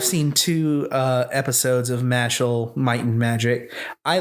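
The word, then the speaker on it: Mashle: Like with um it's pronounced Marshall, right? Mhm. Yes. Both are equally awesome. And yeah, but I've seen two uh episodes of Matchel Might and Magic.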